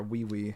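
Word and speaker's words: Ui Ui: four hands tied up ooie ooe or we we as some people were telling me is the proper pronunciation teleporting Maki behind sakuna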